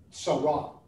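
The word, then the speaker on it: צרה: it would be pronounced sarah you'd have to add like a little ah on the end of it there in order to get the hebrew sound the hebrew word sarah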